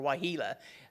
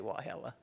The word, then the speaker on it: Wahelah: it's just wahelah or wahila people see it and they pronounce it that way but the locals say well hella it's just kind of